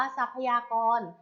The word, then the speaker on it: ทรัพยากร: คำ ว่า ทรัพยากร ค่ะ ทรัพยากร อ่าน ว่า ทรัพยากร ทรัพยากร ประกอบ ไป ด้วย เขา